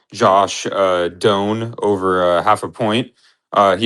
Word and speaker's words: Doan: Well, okay, I believe it was at minus 120, but yeah, John Doan, D O A N, uh, I believe is actually how you say it.